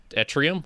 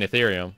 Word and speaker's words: Ethereum: uh now i think she actually pronounced it like uh at atrium or at ethereum and i was like oh you mean ethereum it's like yeah yeah